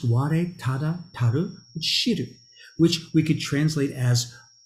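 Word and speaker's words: 吾唯足知: And it's pronounced Ware Tada Taru Shiru, which we could translate as all I need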